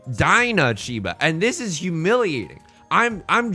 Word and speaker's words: Dana Chiba: Apparently, I've been saying Dana Chiba, the author of Riichi Book 1, this entire time. I think his name is pronounced Dinah Chiba, and this is humiliating.